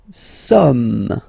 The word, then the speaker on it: sommes: Nous sommes, okay. Nous sommes, okay. So you don't pronounce the final S here, it doesn't exist.